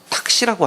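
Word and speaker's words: ταχύ: 예, 여기 속히 오리라는 말을, 속히라는 말을요, 탁시라고 합니다. 헬라어로는 탁시인데요, 이것이 뭐하고 발음이 비슷하면 택시하고 비슷합니다.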